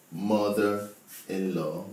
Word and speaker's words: mother-in-law: Mother-in-law, the stress is on MO.